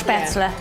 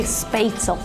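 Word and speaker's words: Spätzle: how you say it, Spaetzle. Of course. So here in the United States, we say Spaetzle Right.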